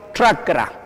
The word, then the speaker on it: chakra: Pero cuando yo digo chakra, es similar al quechua, no está pronunciado bien ahí, chakra. Y así se maneja, ¿no? Pero se tiene que decir bien pronunciado en el quechua, chakra, así, cha.